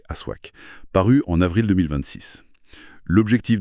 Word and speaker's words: Aswak: Aujourd'hui, on décortique les données, les révélation du numéro 008 du magazine Aswak 9 à prononcer Aswac paru en avril 2026.